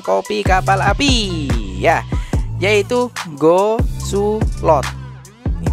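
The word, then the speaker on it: Go Soe Loet: Ya, yaitu Go Sulot. Ini bacanya gitu ya. Go Sulot.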